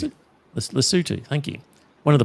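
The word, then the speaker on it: Lesotho: Um take the example of Lasso. Is that how you pronounce it? Lutu.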